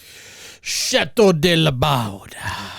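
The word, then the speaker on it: Château de Laubade: And we got the, how do you pronounce it, Matt? Chateau De Laubade.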